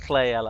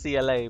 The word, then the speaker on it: CLAyala: I'm told it's pronounced CLAyala, although I used to pronounce it CLA back in the day when I did that tournament co-casting with Excalibur.